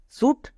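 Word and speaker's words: suit: একই রকমভাবে এস ইউ আই টি সুট, সি এ এস E case সুট case, আর ই রে সি আর ইউ আই T kraut রে kraut.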